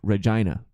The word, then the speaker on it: Regina: spelled Regina but it's pronounced Regina like the vagina and they will correct